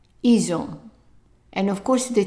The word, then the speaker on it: ils ont: The T is silent, so try to read the whole thing. Ils ont. Ils ont.